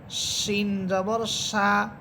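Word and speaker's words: ش: আর শিন এটার আওয়াজটা অনেক বড় বিকট হবে, শিন জবর সা, সা।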